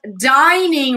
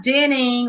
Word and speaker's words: dining: because we call it dining room it's not dinning or dying dinner not dinner oh no its dining dining room it's where you